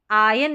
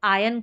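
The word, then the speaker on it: iron: तो आयरन इसका सही उच्चारण है। आयरन आर को साइलेंट रखा जाता है। आयरन भी पढ़ेंगे तो गलत तो नहीं होगा। बट सही अगर आप जानना चाहे तो आयन करके पढ़ देंगे।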